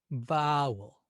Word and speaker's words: vowel: Then deliberately stress the second syllable. Vowel. Vowel sounds a little strange. Vowel is what we say. Ah, now we can become aware that it's the first syllable, vowel, that's getting the emphasis.